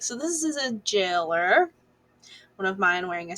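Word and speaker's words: Gaoler: so that's the jailer it's spelled g-a-o-l-e-r um so a lot of people are like gowler no it's it's pronounced jailer yeah i say galler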